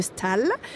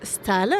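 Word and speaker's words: Staël: 1791 avec madame de Stal qui sec qui s'écrit Stael et qui se prononce Stal.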